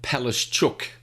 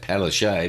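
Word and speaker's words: Palaszczuk: into the big idea the queensland premiere anastasia palace chook that's the way you pronounce her name she likes to say palo shea but she's a chook she's announced new mandates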